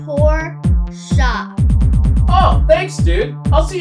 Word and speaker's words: Porsche: german sports car oh the sports car is pronounced poor shop oh thanks dude i'll see you on set